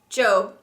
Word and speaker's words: Job: our books of poetry job which in the Bible is pronounced Joe the job of peas